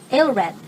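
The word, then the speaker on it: Æthelred: So Ethelred in Old English, Ethelred pronounced Aelred.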